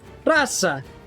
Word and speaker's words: Rosa: russian names as well it's o it's still considered o but it's it's closer to a though rasa i mean okay you're pronouncing the o but the o starts to like not be the usual english way of pronouncing all rasa is